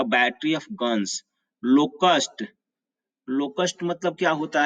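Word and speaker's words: locust: होता है उसे बोलते हैं अ प्लेग ऑफ लोकस्ट इसको बोलते हैं plague a plague of लोकस्ट इसका उच्चारण लिख देता हूं इसको काट देता हूं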